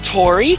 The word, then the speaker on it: Tori: This is Tori. She rhymes with story.